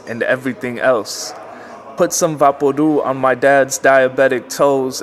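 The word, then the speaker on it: Vaporú: Vaporu is pronounced Vaporu, like loud or chew.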